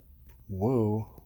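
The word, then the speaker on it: を: And finally we have wo, but it's pronounced o, and it comes after a subject in grammar.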